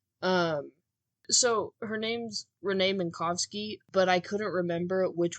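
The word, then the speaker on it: Minkowski: actual real pronunciation because the main narrating character Doug Eiffel pronounces it Renee manowski for like years when they're on this space station together because it's spelled with a W awesome but she just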